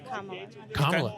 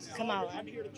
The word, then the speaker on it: Kamala: then uh who are you voting for uh comma Comm okay just kidding Kamala oh okay okay I like that said it